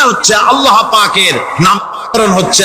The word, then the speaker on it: আল্লাহ: আল্লাহ পাকের উচ্চারণটা হচ্ছে আল্লাহ পাকের নাম হচ্ছে আল্লাহ মুখটা একটু গোল হয়ে যাবে বলেন আল্লাহ আল্লাহ [চিৎকার